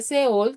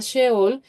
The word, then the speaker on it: Seol: Simplemente es que en hebreo se dice seol, también se pronuncia sheol.